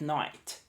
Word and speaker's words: night: De noite, at night, night. Só mais um parênteses aqui, galera. Night. Você viu que a pronúncia desse Tzinho no final não é night, night, é night. É um T quase mudo, tá?